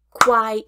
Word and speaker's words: quiet: open mouth quit quite quiet is a two syllable word quiet it quit quite quiet it for example I quit my job I